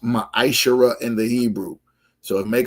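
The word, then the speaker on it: מעשר: It's pronounced maisher in the Hebrew.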